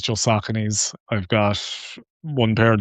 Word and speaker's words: Saucony: I used to call them Sauconys, but Yeah. Saucony. But yes, I use I don't use anything else. It's just Sauconys.